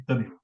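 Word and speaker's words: اتبعوا: Yeah, it can never be attabi'u, it should be ittabi'u.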